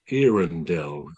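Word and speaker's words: Earendel: Now, the furthest away star is something called Irrenell. Spell that E A R E N D E L.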